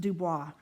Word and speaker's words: Du Bois: Cody, Casper, Du Bois, Ten Sleep, Thermopolis, ad nauseum. So, side note, Du Bois in Louisiana would be pronounced Dubois, due to our French Cajun. But up there, it's just Du Bois, and it's a fantastic little town.